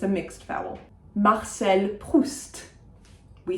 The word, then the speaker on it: Proust: Marcel Proust. We say the T, we say the S.